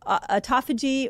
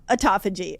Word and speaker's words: autophagy: way of saying it people say either call it um autophagy or autophagy people say it different tell I said it wrong I kind of landed on autophagy I feel like autophagy is the best way to say it autophagy fasting what's that